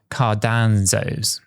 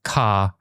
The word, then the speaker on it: Cardano: A while back, Cramer totally butchered Cardano's name, calling it Cardanzos, something that I can't even mispronounce it the way that he does it.